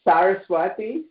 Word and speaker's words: Saraswati: It's Saraswati, Swami Brahmananda Saraswati.